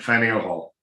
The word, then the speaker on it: Faneuil Hall: a side point you you pronounced it fanul hall or fenniel hall i've always been upset fanny o'hall yeah that's right i don't know i'm